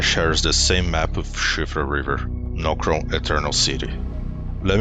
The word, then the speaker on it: Siofra: Yes, Siofra. That's how it's pronounced.